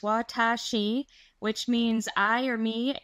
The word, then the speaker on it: Watashi: This site is Watashi Life pronounced Watashi which means I or me in Japanese.